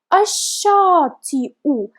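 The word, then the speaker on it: الشاطئ: Again, we have article al, but we will not pronounce letter lam because letter shin is a sun letter, and we know that because above it we have shadda. So ash-shati'u. As you can see, hamza is written above nabira, but we don't pronounce this letter that hamza is written on. We just pronounce hamza by itself with the extra vowel sound u.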